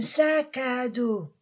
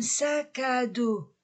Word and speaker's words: sac à dos: chaise une gomme un sac à dos un sac à dos on ne prononce pas le S un sac à doau